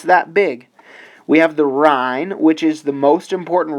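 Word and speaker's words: Ruhr: the north uran plane is home to the r this is a region in Germany that is very rich in Coal that fueled industrialization this is spelled r u HR the r also this North European plane is extremely fertile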